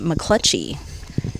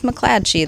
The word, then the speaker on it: McClatchy: And I'm like, I'm pretty sure he pronounced his last name McClutchy. And Brad's like, no, pretty sure it's McClatchy. That's my cousin.